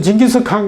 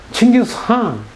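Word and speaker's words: Chinggis Khaan: 칭기스한 KHA는 이걸 이렇게 표기하지만 읽을 때는 K가 묵음입니다. 묵음이래요. 소리 나지 않습니다. 그래서 한 이렇게 해요. 한 이렇게 해요. 한이란 발음을 강하게 내지. 칭기스한 이렇게 내는 거예요.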